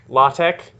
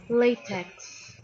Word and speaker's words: LaTeX: be allergic this is this is a la tech not late at 0 latex latex latex so it's not pronounced latex it's pronounced to either la tech or lay tech yeah